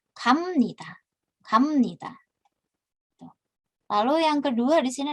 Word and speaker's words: 갑니다: Dibacanya bukan gapnida, tapi karena biepnya bertemu dengan nien, biepnya dilafalkan menjadi miem. Jadi 갑니다.